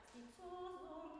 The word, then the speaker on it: stizzoso: Stizzoso mio, stizzoso. And always accentuate the penultimate syllable, okay, of the sentence. Stizzoso mio, stizzoso. Da-da-da-di-da-da-da-da.